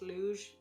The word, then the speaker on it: Luz: Bear with me, I think it's meant to be pronounced luge, and I keep saying lose.